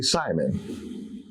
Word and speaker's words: Seman: Could you say my own surname, Seaman, S-E-M-A-N. Okay, it's really Simon.